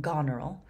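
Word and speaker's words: Goneril: you say her name gonl um like Gone Girl kind of so rean comes up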